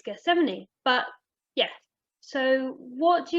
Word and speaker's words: Gethsemane: until i got here i don't think i actually was pronouncing the name of the garden right it was jessamy it was giseme but no it's it's geth70 but yeah so what